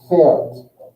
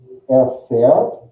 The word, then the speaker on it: fährt: Fährt. Fährt. And with schlafen, do. The spelling is really, the conjugation is the same. Just the vowel changes. With umlaut A, how do we say that? Schläfst, right? Fährt, du schläfst, du läufst.